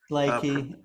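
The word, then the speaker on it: Leakey: Lakey. Pronounced.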